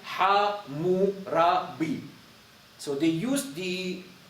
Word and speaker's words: Hammurabi: But those words, they read like Ha-mu-ra-bi.